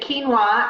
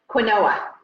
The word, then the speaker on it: quinoa: way to do it it's quinoa right oh and by the way you can laugh at me I used to pronounce it Qin OA can you see why and people didn't tell me for like a year I'm doing teachings and trainings and I'm pronouncing it Quin Ola and nobody tells me